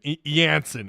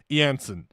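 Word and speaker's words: Eyanson: Arkansas had no answer for uh Anen. I think that's how you say his name. Yansen. It's pronounced or it's spelled E ya in sun. Yansen.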